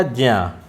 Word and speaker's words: ज्या: ज्या का उच्चारण, क्योंकि ये ज्या जो है आधा जा आधा या और आ मिलकर बना है, इसको लोग ज्ञा बोलते हैं। क्या बोलते हैं? ज्ञा। लेकिन यह है क्या? ज्या।